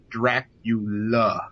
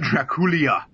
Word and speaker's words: Dracula: this way and uh i can't believe how many people recently have said dracula to me rather than dracula and uh i don't know if you guys realize this but there's no i or e or y that appears in the word dracula it is dracula not draculia and wouldn't it look